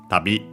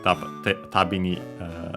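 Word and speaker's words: 旅: Accent on the last syllable. On the last mora, it doesn't change here. Tabi.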